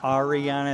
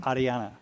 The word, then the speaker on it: Ariana: The Ariana, it's almost like a D instead of an R. Like, right. Not Ariana, it's like Ariana.